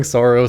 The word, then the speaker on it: Saros: I don't I don't think like rhymes with hair loss. Like I'm sorry. I'm not I'm just not doing that. Everyone is saying Soros, so I'm going to say Soros.